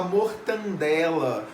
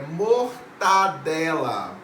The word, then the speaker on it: mortadela: próxima nacionalização das vogais muita gente fala mortadela mortadela não existe é mortadela pronúncia de ditongo como